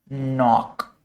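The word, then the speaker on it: knock: Night नॉक। यह होते हैं हमारे के से। ठीक है? और इन सब में एक मतलब समान बात या सिमिलरिटी क्या है कि के का साउंड साइलेंट रहता है।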